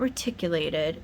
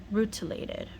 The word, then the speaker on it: rutilated: It's not reticulated, it's rutilated.